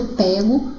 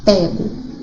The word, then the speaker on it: pego: assim que sair daqui qual a diferença entre a pronúncia de pé nessa frase e na tirinha e aí nessa frase ué é aberto pego na tirinha o é fechada estranho eu me agachei